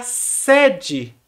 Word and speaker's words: sede: Então, no primeiro caso é a sede e no segundo caso é sede. A escrita é a mesma, S-E-D-E, mas a pronúncia, nesse caso, é diferente.